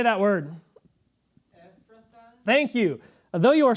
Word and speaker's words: Ephrathah: Ephrathah.